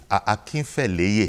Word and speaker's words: Akinfeleye: Akinfeleye. Akinfeleye. That's right. Is the way it is properly pronounced.